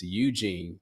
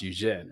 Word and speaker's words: Eugene: So but I will say, oddly enough, my middle name, the Americanized way is Eugene, but it is pronounced Eugene, right?